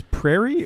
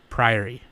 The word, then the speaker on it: Priory: calling Priory is it is this Prairie or what no PRI ary priori oh okay what is